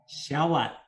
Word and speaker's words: SheWhat: And how do you pronounce her name? SheWhat.